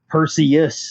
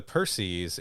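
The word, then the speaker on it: Perses: the Perseus as well that's not Perseus by the way p-e-r-s-e-s there is no U there yeah the Percy's is a patrol ship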